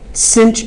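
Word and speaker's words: sinh: concerned about and that is cinch okay sets cinch X is how it's pronounced it's the hyperbolic sine of x it's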